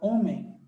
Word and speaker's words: homem: Quando você vai escrever a palavra hábito ou hábil ou homem, olha só, a palavra homem, o H não tem som.